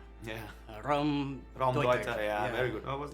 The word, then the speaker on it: Raumdeuter: Raumdeuter, space interpreter.